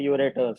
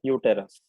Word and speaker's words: uterus: So वो uterus है. हाँ. Uterus. Please pronounce it properly. Don't call it uretus.